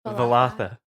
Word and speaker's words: Valatha: I spelled it wrong in here, so I'm going to say it like Valatha. Valatha. Valatha. Like a velociraptor.